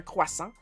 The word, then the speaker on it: croissant: know that jo that's that's actually how it's pronounced in French. Well, we we push the R a little bit more. Quasa.